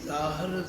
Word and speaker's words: ज़हूर: भी तुहानू समझाया कि फारसी के अखरों में जजे के पैर विच बिंदी ला के इहनूं जज्जा बोलना।